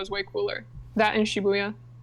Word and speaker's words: Shibuya: That in Shibuya. Or as you call it, Shiguya. Is it not? That's not like a pronunciation thing. That's just the wrong word.